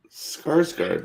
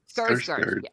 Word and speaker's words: Skarsgård: I know I pronounced it wrong, and it's Alexander. Oh, I can't. I just can't. Now I'm self-conscious. Skarsgård, right? Skarsgård.